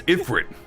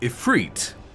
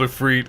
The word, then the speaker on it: Ifrit: have voice acting so I always thought it was ifrin in Final Fantasy 10 which had voice acting but they never called the names of anything I thought it was Ifrit Final Fantasy 14 pronounced it as ifreet I was like yeah okay that's what it's supposed to be and then we get to this and it's called a freed and there's so many